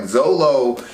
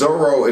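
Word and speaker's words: Zoro: don't have some time i think it's l what they're missing so like zolo is zorro if you read the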